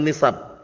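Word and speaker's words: نِسَب: almansub almfirwati aasab Awin nisab bukan nasab nisab bacanya nisab itu J nisbah kalau nasabun jamanya ansab paham ya itu nanti ee garis keturunan atau keturunan nasab Tapi kalau ini nisab baca keliru ya nisab alismu almansub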